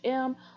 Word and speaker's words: ohm: equals current times resistance and ohm is that's how you pronounce om ohm it's of course going